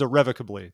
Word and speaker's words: irrevocably: tell you all folks the word is irrevocably that's how we pronounce it but we all say